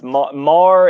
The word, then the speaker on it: Maher: Mar is the way you pronounce that.